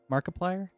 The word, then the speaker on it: Markiplier: I know it's from Markip Markiplier. That's how you say it.